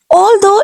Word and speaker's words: although: G is silent here.